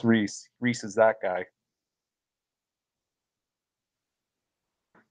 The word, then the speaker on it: Rhys: though people like a lot of times people mispronounce it, they pronounce it rice, which is where the English name rice comes from. It's from people Oh mis wow, that's Reese.